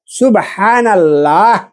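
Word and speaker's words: سبحان الله: আমি চিন্তা করি ভাই যে হায়রে এ লোকগুলা বসে বসে আলহামদুলিল্লাহ আলহামদুলিল্লাহ আলহামদুলিল্লাহ এই যে হা দেখেন সুবহানাল্লাহ এখানে কিন্তু দুটা হা আছে প্রথমে সুবহা এটা বড় অক্ষর এখানে হা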